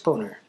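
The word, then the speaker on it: Boehner: And before we go, Speaker of the House John Bader's name is pronounced boner.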